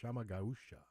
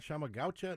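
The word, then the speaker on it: Chama Gaúcha: Oh, and then when the owner came in, he told me that I was pronouncing it wrong. It's Chamagaucha. Chamagaucha. Yeah, and I was like, not Chamagaucha. Like, I just naturally said it that way. He goes, no. Shama.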